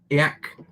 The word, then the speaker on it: ek: svenkek which is uh i'm butchering the pronunciation of eck it's closer to um yak um like basically yak um which means swedish